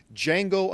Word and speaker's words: Django: new Quentin Tarantino film, Django Unchained. The D is silent.